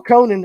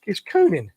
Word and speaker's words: Coonan: if you don't mind paul conan or it's coonan i always say your name wrong kunin right that's what i told you last week yep yeah about